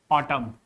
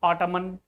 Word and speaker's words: autumn: N is silent in all those words when n is just after m, like in the words autumn. This is autumn, not ottoman.